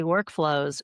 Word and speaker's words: workflows: going to ask you the different emphasis on the syllables in the title of your brand, because you can say workflows or work flows.